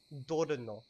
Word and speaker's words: dorno: So the word for thorn is dorno. Dorno. Okay, so it's spelled D-O-R-N-O.